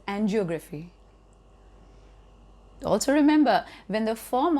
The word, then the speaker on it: angiography: Or maybe angiography, commonly spoken as angiography.